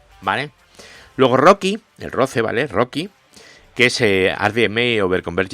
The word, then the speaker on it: RoCE: aceleración como es el Rocky Rocky es una cosa que se escribe roce r ce ahora hablaremos de ella o